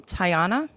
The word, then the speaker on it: Tiana: And do you pronounce her name Tiana? Yeah, Is that Tiana.